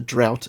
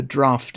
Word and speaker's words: draught: I blame Noel Webster he pronounces the title as the drought of fishes he means the draft of fishes which is a famous